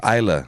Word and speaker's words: Islay: for weeks oh yeah because this is what we have called for weeks i lay whiskey highlight it's it's it's isla it's isla uh so